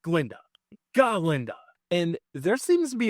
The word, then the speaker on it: Galinda: AP on him like you pronounce it correctly it's galinda not ginda galinda and there seems to be a little Theory